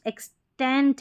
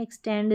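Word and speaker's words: extent: एक्सटेंड, एक्सटेंड, एक्सटेंट है, टी है last में, एक्सटेंड नहीं है, एक्सटेंट। ये है एग्जीबिशन, एक्स्ट्रा, और ये है एक्सेप्ट।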